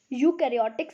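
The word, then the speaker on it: eukaryotic: होती है उनको हम यूकैरियोटिक सेल बोलते हैं तो इसमें इन्होंने जो है ना यू तो यहां इसमें ए जो है ना साइलेंट होता है तो उनको हम यूकार्योटिक सेल बोलते हैं और आर्गनिज्म डेट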